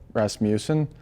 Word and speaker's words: Rasmussen: rasmussen i think like some announcers might pronounce my name like with a moose kind of in there instead of like rasmussen so maybe that's it i don't know oh